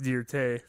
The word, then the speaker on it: Dirt: didn't have the right attire for it it's pronounced dear tay today sorry what was nora she was a